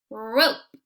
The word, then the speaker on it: rope: R, O, P, rope.